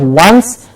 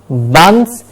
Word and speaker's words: once: but once please remember pronunciation of once is that there is a w in the beginning it's not once it left once like WN so once but once you have